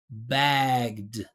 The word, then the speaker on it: bagged: Bagg vibration. So I'm just going to continue that vibration. I'm going to say bagged.